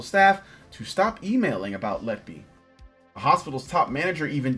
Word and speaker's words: Letby: I hope I'm pronouncing that right. I think I have a picture here. That is... it's actually Letby. Letby? Lucy Letby. Okay, Lucy Letby.